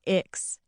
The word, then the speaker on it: Ix: When I left my big public school and transferred to ICCS, short for Intertribal Community Charter School, and pronounced Ix, I really thought things would change for me.